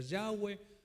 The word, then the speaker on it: Yahweh: Que algunos dicen que se debe de pronunciar Yahvé, algunos dicen que se debe pronunciar Yahweh.